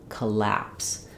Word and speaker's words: collapse: letter O is going to be the schah sound it's going to sound like uh so if we spelled it more the way it sounds we would write it with a U or U like C collapse um and then we